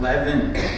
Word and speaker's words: Lewin: Parliament the sad Rabbi Aaron Lewin pronounced Levin McCollum was a great